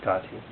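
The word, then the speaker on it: gate: The first repetition of the word Gati, gone, pronounced Gati, signifies the path of accumulation.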